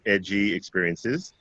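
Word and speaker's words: EJI Experiences: @ DJ eye experiences it's pronounced edgy experiences but spelled e ji experiences on both facebook and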